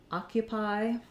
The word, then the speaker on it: occupy: it's held longer um it can also say ah when it's stressed like as in occupy um so oh very often in a in a stress syllable says the ah vowel um that's that's this vowel here and it sounds like ah Q pi occupy again it's stressed and